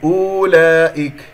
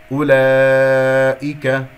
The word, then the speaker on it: أولئك: لا تقول أولئك، هذه واو تكتب، هذه فوقها الصفر المستدير هذا تكتب ولا تلفظ. لا تقول أولى، انتبه، أولئك، ولدينا مد واجب متصل